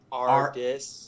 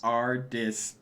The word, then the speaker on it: Ardis: Ardis. Ardis, even though. Is that. Okay, there is a R. I just didn't put that. Ardis. Like. Dis.